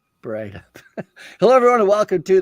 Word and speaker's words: Breithaupt: Breithaupt. Did I say it right? That's it. Light up, Breithaupt. I like the light up, Breithaupt part. That makes it easy.